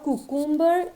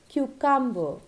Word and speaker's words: cucumber: one being again very common cucumber cucumber or koo kumba is not correct it is cucumber alright so guys these are some of the